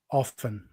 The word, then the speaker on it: often: Often. Often. I'd open the tea. Often open house of tea. I don't I I I don't I don't pronounce the T either.